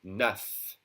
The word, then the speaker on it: neuf: That F is pronounced like a V.